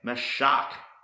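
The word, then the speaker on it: משח: with the letter M is pronounced my shark my shark and this means to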